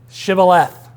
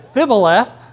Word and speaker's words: Shibboleth: And they tell them, say Shibboleth. And if they said Fibboleth, because they weren't one of them, they couldn't use their language, at least the pronunciation, maybe they knew the word, but they couldn't say it right, they got put to death.